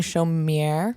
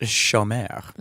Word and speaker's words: chômeur: pounding chaumière, Excuse me. I think it's pronounced chômeur. pounding chaumière.